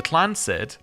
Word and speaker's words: Tlancid: The Tlancid, pronounced Tlancid, Trust is a highly unusual